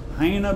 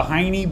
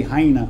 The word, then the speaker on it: Heine: oh you used the hiney borrel theorem it's not that funny I say hyena I think that's how you pronounce it it's a German name the high no Burrell